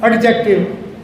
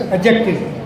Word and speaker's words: adjective: Now again, it is not adjective, it's adjective. Di is silent here.